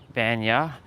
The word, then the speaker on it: Vanja: I think the J is like pronounced with ya instead of ja. Vanja.